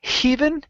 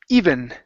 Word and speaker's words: even: last one here is even instead of heav it's e even even okay very good very